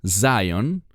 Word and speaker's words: Zion: sobre El sionismo bueno la palabra Sion que en inglés se pronuncia Zion esa palabra es una